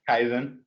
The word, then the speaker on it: Kaizen: Yeah, Kaizen.